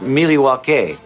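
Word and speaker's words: Milwaukee: do with a gun actually it's pronounced miliwake yes it is you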